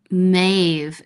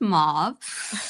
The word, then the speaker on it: mauve: and I was like, "What's Mave?" And my mom had to be like, "It's pronounced mauve."